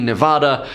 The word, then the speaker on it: Nevada: out here I said nobody says it the other way it has to be Nevada but if you don't